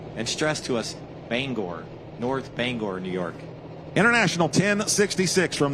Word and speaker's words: North Bangor: This is the 4th generation 9,500-pound limited pro stock from North Bangor, New York. Did I say it right? Yes, sir, you did. All right, North Bangor.